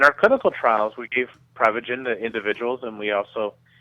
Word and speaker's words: Prevagen: Well, technically it's pronounced Prevagen, but what Prevagen is